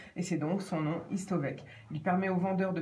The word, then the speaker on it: Histovec: Autre sujet, autre info du jour, c'est Histovec. Oui, j'ai bien prononcé, H-I-S-T-O-V-E-C, retenez ce nom.